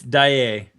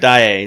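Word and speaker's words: Dāe: It's Daye. That is correct. Dae. That's spelled D-A-A with a little line over it and then E.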